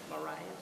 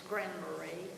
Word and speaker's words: Grand Marais: the word right, but Marias, Michigan? Oh yeah, there's Grand Marais. It's Grand Marais? Yes. Okay. Yeah, it's French.